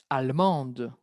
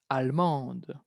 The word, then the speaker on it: allemande: Cuidado la pronunciación. Va a haber un cambio de pronunciación. Elle est allemande. Allemande.